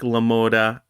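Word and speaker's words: LaMotta: real life boxer uh jake lamoda i believe is how you say the name excuse me if i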